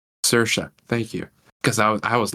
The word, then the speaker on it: Saoirse: How do you pronounce her name? Saoirse. Saoirse.